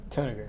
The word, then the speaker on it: Tanager: Tanager. Tanager, okay, just like it's spelled, Snapper.